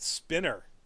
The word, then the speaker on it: Spiner: Brent Spinner, and I believe he pronounces it Spinner even though it's spelled Spiner.